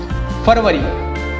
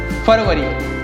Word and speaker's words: February: So next we have February. February.